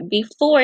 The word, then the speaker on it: before: So before is kind of tricky. It has a silent E, but if you can remember B and for, and just know there's silent E at the end.